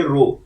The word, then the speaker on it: rho: रो equal to 0, ये रो population correlation के लिए रो का साइन इस्तेमाल होता है RHO, इसे प्रोनाउंस करेंगे रो।